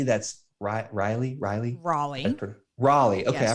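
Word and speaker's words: Raleigh: if you're in an area like Durham or Riley that's RI Riley Riley Raley Raley okay I pronounced it right the first time there's a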